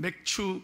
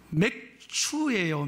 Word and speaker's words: 맥추: 오늘은 맥추 감사절 있니다이 발음을 잘해야 돼요 지난주 제가 광고를 하고 이렇게 예배 마치고 가는데 어떤 애가이 주보를 보고 나한테 이렇게 묻는 거예요 목사님 한 서너살 때 맥주예요 맥주예요 그러 빵 터졌습니다 예